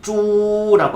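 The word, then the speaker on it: 猪: 쭈라고 하시면 돼요.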